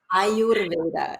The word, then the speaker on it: Ayurveda: Ayurveda, is that how you pronounce it? Ayurveda, exactly.